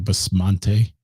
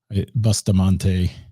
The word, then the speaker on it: Bustamante: always say it wrong basmante Bustamante like bust a move I don't know I